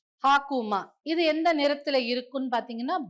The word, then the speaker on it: Hakuma: இந்த சிஜிலை எப்படி ப்ரொனவுன்ஸ் பண்ணுவாங்க அப்படின்னா ஹா கு மா, ஹாக்குமா.